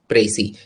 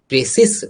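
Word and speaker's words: précis: प्रेसी, ये जो सध्वनि है पूरी तरह से म्यूट रहेगा, इसका उच्चारण नहीं किया जाता है, प्रेसिस नहीं कहा जाता है।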